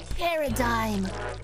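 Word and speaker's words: Paradime: Introducing new VTuber company group Paradigm, but it's spelled like par M D I M E. Paradigm.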